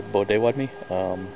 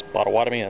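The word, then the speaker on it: Bodéwadmi: but they wad me Potawatomi language we say bow day Wed me but everybody else's bottle water man it's the anglicized pronunciation for our tribe I'm also Creek but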